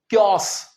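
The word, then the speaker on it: chaos: इसे हम कहेंगे कस।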